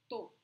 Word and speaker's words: tô: So remember, guys, that verb estar in Portuguese often is just pronounced like this. Eu tô. Eu tô.